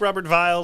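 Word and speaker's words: Robert Weil: a huge seller but uh we really like robert vile they are a super family producer uh remember it's spelled w-e-i-l i know i'm really looking forward to saying looking forward to it robert viall uh pronouncing all of these so that's fun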